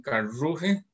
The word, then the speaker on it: Karlsruhe: Entonces se compite el domingo 11 de marzo en Karlsruhe, como se pronuncia en alemán.